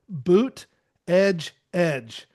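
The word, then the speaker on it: Buttigieg: I saw I was somewhere Well, I saw somewhere somebody was wearing a shirt and it said boot edge edge.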